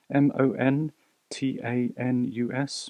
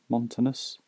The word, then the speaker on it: Montanus: a viewfinder camera not quite sure how we pronounce it m o n t a n u s montanus montus it's a viewfinder 35mm viewfinder camera so let's